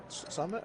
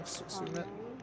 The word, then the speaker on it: Sumit: Summit or Sumit? I remember saying it wrong. Sumit.